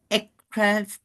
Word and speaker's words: ekphrastic: And Amanda is a poet herself and writes, how do I pronounce it, Amanda? ekphrastic.